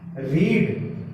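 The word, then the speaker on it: read: रीड, रेड, रेड, रीडिंग। Spelling same रहती है, रीड, रेड, रेड, ये ऐसे बोला जाता है, रेड, आई हैव रेड, ठीक है।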